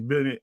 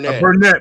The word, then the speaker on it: Burnett: So technically, what Cornelius Bennett is saying It's Burnett. Burnett. I got you, bro. I doubled down. I know. I always say it wrong.